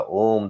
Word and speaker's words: ओम: जैसे कि ओम का उच्चारण हमने कहा था। ओम तो लोग आज हम ओम की उच्चारण जब करते हैं तो किसे करते हैं बैठ के ओम ये करने लग गलत है ये गलत है ओम का उच्चारण प्लुत के उस बताया गया है तो आ में ऊ